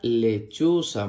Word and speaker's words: lechuza: Y la última imagen muestra una lechuza. Muy bien. La palabra lechuza se escribe con L-E, que suena le, C-H-U, que suena chu, Z-A, que suena sa. Lechuza, lechuza.